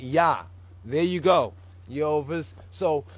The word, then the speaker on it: Jah: jah or the Hebrew yah. If you pronounce it like the German Jews do, you will the J will be a Y sound.